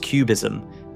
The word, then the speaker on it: QBism: QBism, pronounced QBism, stands for quantum Bayesianism.